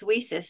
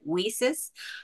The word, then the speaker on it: WiCyS: made that clear but we do pronounce it whis because it stands for we cyber sisters um it's not correct